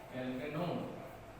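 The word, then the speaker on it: alkanone: Pronounce किया जाता है एल्केनोन। ए छूट गया है यहाँ पर, एल्केनोन।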